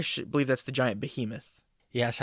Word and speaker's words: Behemoth: believe that's the giant Behemoth yes I've never heard anyone pronounce it be him off that's because that would be wrong but uh didn't uh